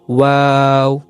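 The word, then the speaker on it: و: আপনার দুই ঠোঁটটা একটু গোল করে উচ্চারণ করবেন, ওয়াও।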